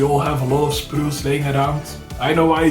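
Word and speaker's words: sprue: variation in your arm also remember spru spru glue spru GL that's how you pronounce it is a thing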